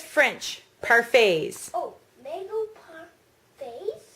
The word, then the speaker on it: parfaits: oh, mango parfaits. Yeah, it's pronounced parfaits. It's a French word.